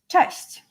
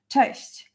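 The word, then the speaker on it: cześć: like with nearly everybody it will be test you probably heard it like a thousands of times but it's always good to know how to pronounce it actually and how to write you know like type it down test hello CH uh CH there is also like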